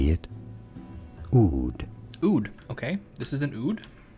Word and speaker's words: oud: an how do you even pronounce this uh pronunciation how do you say it oud oud okay this is an oud and it is